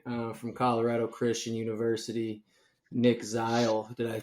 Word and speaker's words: Zeil: special guest today um from Colorado Christian University Nick zle did I pronounced that correctly you did yeah you want